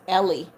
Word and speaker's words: Eli: said the Eli in Eli is pronounced Ellie.